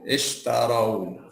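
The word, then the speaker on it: اشتروا: Itu kenapa jadi ish, Ustaz? Iya, bacanya kan mesti ini huruf tengahnya kan A, jadi bacanya I dong. Ya. Ya kan? Oke. Kalau dari awal jadi ishtarau.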